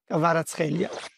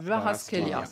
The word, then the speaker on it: Kvaratskhelia: Eh bien, réécoutons comment lui prononce son propre nom. My name is Khvicha Kvaratskhelia. Khvicha Kvaratskhelia.